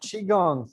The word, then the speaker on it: qigong: Yep, Qigong.